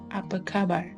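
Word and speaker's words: apa khabar: news off we go through the manner of pronouncing upper cover but a is pronounced as aa in amor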